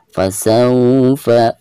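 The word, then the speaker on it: فسوف: berhadapan dengan Wars sukun maka dihukumi Line ya atau madlin jadi cara membacanya itu harus disertai dengan kelembutannya fasaufa fasaufa seperti itu fasaufa Yuha ada Fathan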